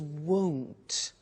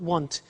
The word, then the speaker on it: won't: before you heard me with the money is won't be careful with the pronunciation it's not want its world so the example is I won't